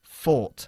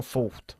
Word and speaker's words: fought: Pronunciamos el pasado de fight, fought, y no fought, ¿ok?